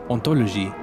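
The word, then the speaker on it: hauntology: The resulting word ontology sounds very similar to ontology. That silent H is what makes all the difference.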